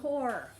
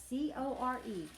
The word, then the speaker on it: Corps: You don't say the P and you don't say the S. It sounds like C-O-R-E. It's spelled C-O-R-P-S, but it sounds like you're saying core, like the core of an apple.